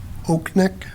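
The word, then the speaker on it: Oknick: Jen Oaknick.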